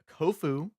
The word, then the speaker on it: Kofu: side so we got kofu rhymes with tofu I think he was